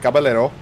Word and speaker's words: Caballero: That's how you say it, Caballero. I don't have the accent to make that work. I'm too white.